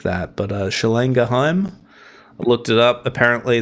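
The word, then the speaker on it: Schlagenheim: I believe maybe one of the guys might be half German or something like that, but Schlang Geheim, I looked it up. Apparently that's how you say it phonetically.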